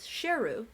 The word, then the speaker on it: Sheru: funny story is that he apparently had been pronouncing his name wrong his whole life so he thought his name was saru turns out that it was sheru s-h-e-r-u which means Lion in his original language and they later made